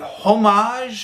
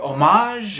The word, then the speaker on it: homage: unsure about the pronunciation is it homage or homage or i i looked this up on the internet before filming and apparently the world the word has multiple pronunciations all of which are acceptable uh catalonia catalania i